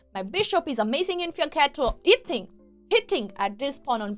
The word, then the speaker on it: fianchetto: Fianchetto is pronounced fianchetto. Oh, not fianchetto. Just that you know. Yeah. It's an Italian word, and the ch is k is strong.